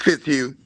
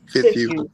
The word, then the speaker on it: Fitzhugh: It says, "Now come Victoria Fitz Hug, right?" Fitz Hug, right? How do you say your name? It's Fitz Hug. Fitz Hug.